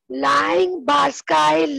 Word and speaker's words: Liang-Barsky: This is pronounced as Liang-Barsky line clipping algorithm.